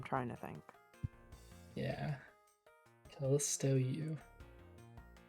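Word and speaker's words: Yew: Callisto U. She pronounced U like Y-O-U.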